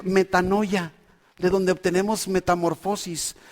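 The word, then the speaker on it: μετάνοια: ¿Sabe qué es una palabra que se pronuncia metanoia, de donde obtenemos metamorfosis?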